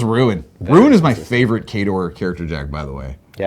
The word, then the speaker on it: KOTOR: But the official answer is KOTOR.